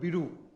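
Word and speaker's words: Beidou: So the name of their Chinese is called Bidu, B-E-I-D-O-U. Right, Bidu, or Baidu, whatever you pronounce that, the Baidu there, right?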